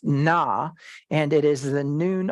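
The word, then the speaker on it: נא: It's pronounced na, and it is the noon aleph, and it says, I acknowledge your authority, but do this now.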